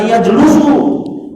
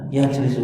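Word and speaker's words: يجلس: walaupun tidak ada harokatnya, kita tidak boleh baca yajlusu. Kalau dibaca yajlusu salah. Ketahuan dia belum belajar tasrif. Belum pernah ikut bahasa Arab sini. Ya. Gak ada orang Arab bacanya yajlusu. Yang ada yajlisu. Kenapa yajlisu? Karena babnya fa'ala yaf'ilu. Tapi kalau ada yang baca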